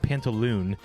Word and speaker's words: Pantalone: and stuff uh so pantalone or I think as in English it's pronounced pantaloon pantaloon is uh characterized as